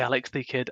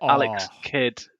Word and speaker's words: Alex Kidd: say alex the kid i did just say alex the kid alex kidd sorry no alex that's it we're canceling the